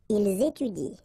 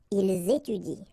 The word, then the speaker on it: étudient: so and T, well, you don't pronounce it, so you will get ils étudient. All right, ils étudient.